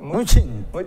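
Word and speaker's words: Mnuchin: ¿qué es, cómo se pronuncia, Joaquín? Muchín.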